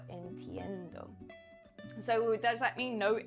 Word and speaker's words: entiendo: Uh, no entendo. Entiendo.